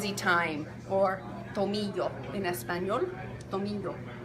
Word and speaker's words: tomillo: Tomillo. Spelt Tomillo, but here's your Spanish lesson of the day. Anytime there's two L's like that together, it sounds like ya, not lo. It's ya, like tomillo, like yo.